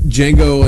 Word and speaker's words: Django: He says that uh Django Unchained the D is silent.